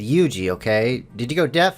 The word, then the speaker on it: Yuuji: I said Yuuji, okay?